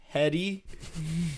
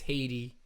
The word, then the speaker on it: Hetty: Her name is Haiti, but it's spelled Hetty. And this poor girl, everywhere she went, whatever class, it was like, all right, Hetty, and she's like, it's Haiti, but it's spelled Hetty. Hetty, and yeah.